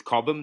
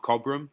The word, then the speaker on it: Cobham: I just learnt that it's Cobham, not Cobham. I pronounced the R.